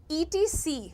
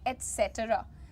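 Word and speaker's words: et cetera: you will call it genre ज में श मिक्स करना है आपको कहना है जॉन्रा ठीक है नेक्स्ट ईटी सी बहुत सारे लोग इसको ईटी सी बोल देते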